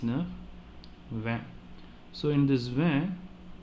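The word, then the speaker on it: vingt: So in this van, this G and T will not be pronounced. Instead, we will pronounce only V-I-N. V-E-V-N, van. Okay, G and T silent.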